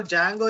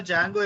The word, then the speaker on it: Django: So D is silent. We need to spell it as Django, but most of the